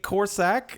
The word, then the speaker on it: Korsak: us today uh Mrs corac am I saying that right you are they're saying it right okay great um if